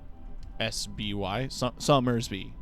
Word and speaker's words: Somersby: i told him i wanted summersby which is spelled like s-o-m e-r-s-b-y summersby he thought i said summer beer and got